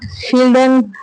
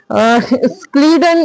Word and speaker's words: Schleiden: इसमें इन्होंने बोला, शील्डन या स्क्लीडन और श्वान ने, इन्होंने बोला कि स्क्लीडन और श्लीडन इन दोनों तरीके से हम प्रोनाउंस कर सकते हैं जैसा आप लोग चाहें.